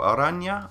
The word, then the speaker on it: Arana: Arana is how I pronounce it, and he is a cat-like, fantastic goalkeeper.